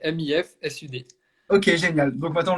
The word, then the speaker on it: Mifsud: commentateurs comment dit-on famille moi je dis Miss flud est-ce que ça se dit comme ça est-ce qu'on prononce le S dis-nous tout non non on prononce comme ça s'écrit MIF Sud c'est MIF Sud ok génial donc maintenant